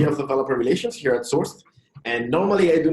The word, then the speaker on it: source{d}: It's pronounced Sourced, not Sourcedy. I know that many people get confused about that. Me too at the beginning, so don't worry about that. We pronounce it like one word.